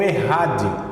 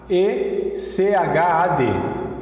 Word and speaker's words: Echad: Ouve Israel, o Senhor nosso Deus é o Errad, Errad, E-C-H-A-D, essa é a palavra, Errad, né? Ou se fosse pronunciar aqui no português, Echad, Echad, E-C-H-A-D, de mudo, Echad, tá? Mas a pronúncia é Errad.